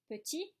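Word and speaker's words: petits: Petit, petite, petit, petite. Pay attention to the pronunciation. Am I pronouncing the S's? Petit, petite, petit, petite. No, I don't pronounce the S.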